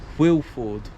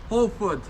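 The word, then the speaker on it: Hwlffordd: Wilford. How do you say it, James? No, it's Holford.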